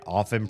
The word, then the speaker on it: often: Yeah, I did for most of my life until I discovered that the word often uses the same mechanics in the silencing of the T as soften.